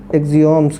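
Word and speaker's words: axioms: देखो एक rough work देखो, सिंपल सा बड़ा कि एक है ऑक्सियम्स, स्पेलिंग क्या होती है, एक्सियम्स, क्या बोलेंगे, एक्सियम्स कैसे बोल लेते हैं, ठीक, एक्सियम्स, और नीचे क्या है,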